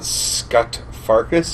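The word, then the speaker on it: Scut Farkas: That's Scott Farkas.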